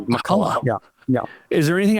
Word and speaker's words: McCullough: Do you say Makulla? Am I saying your name right? You are saying it correctly. Makulla.